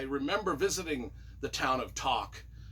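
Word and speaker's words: Tok: visiting the town of Talk t o k to I think we pronounced it to um I remember visiting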